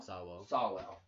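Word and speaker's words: Sowell: the older black guy thomas alvo is it sawwell sawwell yeah that's who should be our president why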